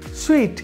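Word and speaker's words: suite: etcetera পরে রয়েছে দেখুন সুইট এই উচ্চারণটি হবে সুইট একেবারে ঠিক সুইট মিষ্টির মতো সুইট মানে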